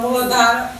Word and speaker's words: Muladhara: É o asana para equilibrar o Muladhara. Quando tem um H, você pronuncia Muladhara. Faz um R quase um Muladhara Chakra.